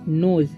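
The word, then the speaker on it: knows: हे नहीं पढ़ना है नोज के का उच्चारण यहां पर नहीं होगा के साइलेंट है ठीक है तो नोज पढ़ेंगे ठीक है नोज वेयर इसे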